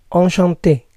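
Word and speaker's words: enchantée: encantado quiere decir encantada la pronunciación es la misma pero en la escritura se añade una e final enchanté muer muer piachere piachere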